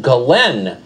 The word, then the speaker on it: Ghislaine: Her name apparently is pronounced Ghislaine Maxwell, spelled Ghislaine.